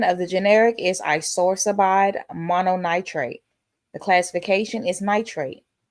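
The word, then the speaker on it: isosorbide mononitrate: The pronunciation of the generic is isorsabide mononitrate.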